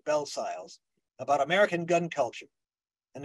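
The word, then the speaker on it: Bellesiles: One well-known example, there are several others, is that of Michael Belsiles. His name is spelled Belsiles, but I understand he pronounces it in the French, Belsile. But I'm going to say Belsiles.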